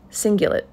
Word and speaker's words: cingulate: the cingulate gyrus and it's singulate c-i-n-g-u-l-a-t-e gyrus g-y-r-u-s not Euros like the uh like the sandwich but uh singular gyrus